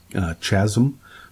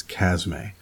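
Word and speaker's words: Chasme: the next one is the chasm a or I have heard people pronounce it in a chasm but it's a it's chasm a this is a cr6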